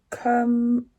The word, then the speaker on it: curmudgeon: The latest one that we have learnt is curmudgeon. I'm going to have to find out how you say this. The correct pronunciation is curmudgeon, and it means bad-tempered or